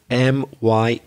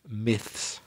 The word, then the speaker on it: myths: idea of urban myths i better spell that word m-y-t-h-s and he's not easy to say myths myths and to begin this